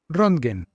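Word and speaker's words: Röntgen: ¿Será que se pronuncia así? Vamos a ver cómo se dice eso en alemán. Vamos, vamos, vamos. Rondgen. Jamás iba a decir Rondgen, pero descubrió el rayo X en 1895.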